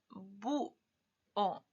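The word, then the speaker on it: búho: Bu o. La pregunta, ¿recuerdan que la H no la tomamos en cuenta? Adiós H, fuera. Te ignoramos. Pero la fuerza está en la U.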